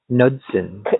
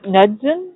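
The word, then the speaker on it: Knudsen: Uh by Eric Nudson. Nudson. Yeah, the K is silent. It's English.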